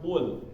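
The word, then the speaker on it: قُلْ: Nah, kalau orang nggak tahu bacanya biasa aja ya, kul sama aja ya, ku atau ko, nggak jelas, jadi nggak diperjelas. Jadi bacanya misalnya pakai kaf, kul. Ada hama sedikit, langsung ketahuan. Kalau ada angin sedikit ya, kul. Nah itu langsung ketahuan berarti huruf kaf yang dia pakai, bukan huruf qaf.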